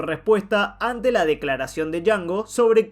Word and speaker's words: Django: De ahí su respuesta ante la declaración de Django sobre que la D no se pronuncia.